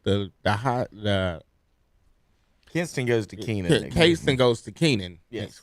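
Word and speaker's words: Kenan: You don't know how to pronounce that? Keenan Stadium.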